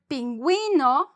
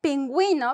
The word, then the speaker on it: pingüino: Sometimes, and it's just in many, like, few words, sometimes the U is pronounced.